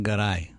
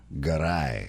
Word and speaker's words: Garay: together here in just a little bit goray engineered and produced and how is it pronounced in spain and uh in spanish is pronounced garai garai yeah my grandfather was born in santander spain